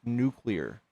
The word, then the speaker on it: nuclear: And uh uh someone in the in the audience just paid to kick you and wants you to know that it's pronounced nuclear.